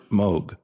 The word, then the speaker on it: Moog: culture or uh the Moog synthesizer or to a lot of other people the moo but it's actually Moog CU a lot of people just say it wrong cuz I used to